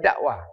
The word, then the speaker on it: dakwah: Di saat orang, walaupun ada H-nya ya. Tapi bacanya dakwah.